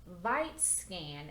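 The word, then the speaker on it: Vitscan: my big handprint there it's called vite scan and i think that's how you pronounce it it's v-i-t-s-c-a-n vite scan um get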